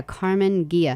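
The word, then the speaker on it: Karmann Ghia: and it's spelled k a r m a a n oh it's two a's yeah carmen gia and then it's g-h-i-a and i think it's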